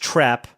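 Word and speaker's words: Trepe: Quistis, apparently this is pronounced Trap, which is absolutely absurd. But anyways, Quistis Trap here is a really nice spell, especially when you get to the late game.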